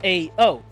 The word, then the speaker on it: Ao: And the reason why that's the case is because Astral Ocean is AO.